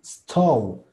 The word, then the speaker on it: stove: S, T, st, O, sto. U, stove. Y el último, la B labial, stove, stove, stove. Entonces, así es como se pronuncia estufa. Stove, stove, ¿vale? Entonces, porfa, así pronunciamos la siguiente vez que quieran decir estufa. Stove, no me digan stove nada más, métanle esa U.